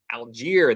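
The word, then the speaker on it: Allgeier: say his last name how do you say his last name is Alger there we go Tyler Alger I'm not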